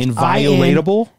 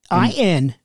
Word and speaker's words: inviolable: Inviolatable? I-N-V-I-O-L-A-B-L-E. Yep. Inviolable. Yes. That makes sense. One's body is inviolable, subject to one's own will alone.